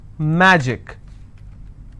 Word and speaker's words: magic: Magic, I will stress on ma.